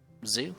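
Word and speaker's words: ず: now no this is Zoo or zoo you practice a zoo there's no D sound for this character and yes it's the same sound as zoo alright the character zoo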